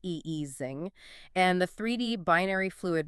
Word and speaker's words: Ising: The 3D Ising model, which is the math for the magnet with up down spins, that's pronounced eesing, and the 3D binary fluid mixture belong to the exact same universality class.